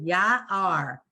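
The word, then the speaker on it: יער: Ya-ar. Everybody see why she said ya-ar? Because the ion is silent. It has the ah, but it connects to the r. So it's ya-ar.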